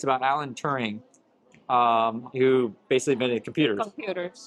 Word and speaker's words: Turing: Benedict Cumberbatch plays a star, and if you don't know the story, it's about Alan Turing, who basically invented computers.